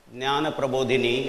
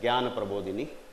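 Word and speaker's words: Jnana Prabodhini: i represent nyana prabhudini or in north india it is pronounced as gyan prabhudini awakener of knowledge when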